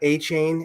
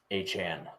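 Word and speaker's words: Achane: I always, it's not A-Chain anymore, apparently. How do you say it now? A-Chan.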